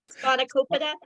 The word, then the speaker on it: spanakopita: Spanakopita?